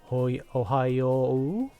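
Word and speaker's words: おはよう: And when we had the word Ohayo, same thing. Ohayo, Ohayo. This became a long O sound. You don't need to pronounce the second letter so much. Just basically stretch the first vowel out.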